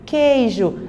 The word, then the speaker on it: queijo: Queijo, a mesma coisa. Então, por que você só pronuncia o som do quê?